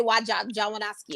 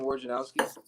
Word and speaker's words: Wojnarowski: I always try to pronounce his full name, but I always say Wojnowski or whatever. Adrian Wojnarowski. Wojnarowski.